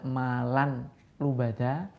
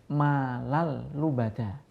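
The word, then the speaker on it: مَالًا لُبَدًا: Contohnya malal lubada. Jadi tidak malan lubada, tapi langsung malal lubada. Tanwin langsung dimasukkan huruf lam. Jadi seakan-akan lamnya itu bertasdid. Jadi membacanya malal lubada.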